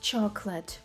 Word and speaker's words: chocolate: моменти interesting або наприклад слово Chocolate ми бачимо chocт вимовляєте як Chocolate фактично два склади Chocolate Chocolate або наприклад слово